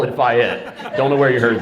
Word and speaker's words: Fayette: It is Thank Fayette. you very Yeah, much. yeah. We were correct then. Everyone is welcome here unless they call it Fayette.